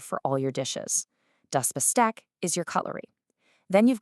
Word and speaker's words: Besteck: When st starts a syllable in German, it sounds like st in English. So it's not Besteck, it's Besteck. Go on, have a go. Das Besteck.